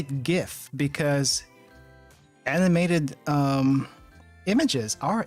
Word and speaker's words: GIF: of gloves do you say it like jiff and always think of peanut butter you know that's perfectly fair and that's probably why i don't say it like i don't say it like that i say gif because animated um images